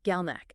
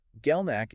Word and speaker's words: GalNAc: GalNAc. It's spelled G-A-L-N-A-C. Break down what that is. GalNAc is a specific type of complex sugar molecule.